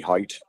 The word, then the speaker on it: Hite: it's overthrown overthrown Xander height was the intended receiver you know I that his last name is spelled hi i t like kite except with an h and uh I've only